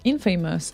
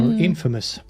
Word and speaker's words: infamous: he wants to hear Infamous and lazy Jones or inFAMOUS no kidding that I said it wrong again Infamous yeah Infamous okay Infamous and